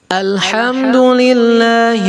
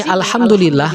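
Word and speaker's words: الحمد لله: Nah, di sini alhamdulillah nggak ada, alhamdulillah nggak ada, ya kan? Nggak mungkin alif lam bersambung langsung diloncatin ke ha. Alhamdulillah nggak mungkin. Jadi alhamdulillah alif lamnya dibaca.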